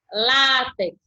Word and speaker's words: látex: É látex ou é látex? Paroxítona eu tenho a penúltima. Látex é a correta.